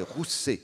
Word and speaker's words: Rousset: Il faut prononcer Rousset. Oui. On lit Ruse, mais c'est Rousset.